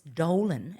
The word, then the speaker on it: Dolan: You buggered me up by saying, Jack, it's Dolan and it rhymes with a colon.